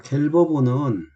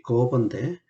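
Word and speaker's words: Gerber: 자, 갤버보는 이 갤버, 원래 독일 사람 이름으로는 이제 거버인데, 거버빔인데 그냥 영어식 발음으로 갤버보로 이렇게 우리한테는 알려져 있습니다.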